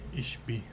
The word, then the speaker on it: Ishbia: It's Ishbia.